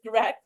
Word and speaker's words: Grech: It's Grech, like CK, even though it's spelled CH.